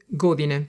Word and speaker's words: godine: živim u Italiji 22 godine. So the je is pronounced like je, not j, like in English.